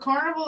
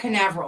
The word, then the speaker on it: Canaveral: Port is it Port Carnival or Port Canaveral? Yeah, it's Port Canaveral. I said it wrong.